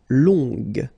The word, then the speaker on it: longue: Okay, so long, remember you don't pronounce the final G, will become longue. Okay, so phonetically it's longue, g, longue.